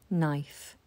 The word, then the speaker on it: knife: a chopping board a knife with a silent k knife this action is to